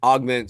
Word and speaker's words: AVGMNT: Um, so we want to augment, so it's spelled AVGMNT.